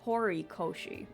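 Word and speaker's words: Horikoshi: you know Naomi hero it's not hero it's hori Koshi oops I've been saying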